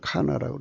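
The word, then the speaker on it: קנה: 지구를 창안하시고 지구를 조성하신 걸 카나라고 그러죠. 카나라고 합니다. 카나. 히브리 말로 카나라고. 여기 있죠. 카나. 이게 조화예요. 조화. 카나. 이 흐자는 대부분 발음 안 해요. 카나. 발음도 카나입니다.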